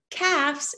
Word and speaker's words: calves: a nice thin calves calves is the correct pronunciation of this word calves if you run a